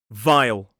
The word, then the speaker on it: vile: And now vile.